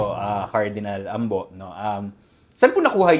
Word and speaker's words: Ambo: tawag niya sa akin ambo. Ambo. Oo. Pilit ko siyang kino-correct. Sabi ko, "You know Tom, it's not Ambo, it's ambo." Sabi ko, "AC on the second syllable."